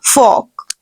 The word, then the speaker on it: fork: The word is fork. Again, you will pronounce letter R here, but you will not pressurize the word. No, the word will be fork.